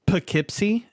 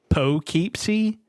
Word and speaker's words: Poughkeepsie: have like and it's it's spelled like dough but with a p and then keep so like I just poke see yeah but it's pronounced Poughkeepsie um so the Poughkeepsie